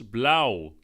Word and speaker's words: blauw: In Dutch we call this blauw. Blauw. And that's a tricky one because we've got the ow sound, which is spelled A-U-W. We call it blauw.